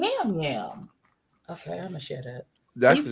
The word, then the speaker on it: Yam Yam: Why is your name Yam Yam? Okay, I'mma share that. He's from Puerto Rico. I think it's pronounced jam jam. They pronounce the Y like a J, but I just my vision say Jam.